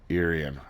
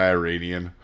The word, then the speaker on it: Irian: on the Pan-Asian cruiser Irian. I know what's wrong. Dave pronounced something right. Yeah, no, I looked it up. I was sick of calling it the Iranian.